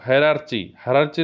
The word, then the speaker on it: hierarchy: next question कौन रही आजिकार question number 2 हायरार्ची रो ठीक प्रोनाउंसिएशन कौन रहिबो हायरार्ची रो ठीक प्रोनाउंसिएशन बा